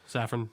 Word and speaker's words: Safran: Yes, Safran.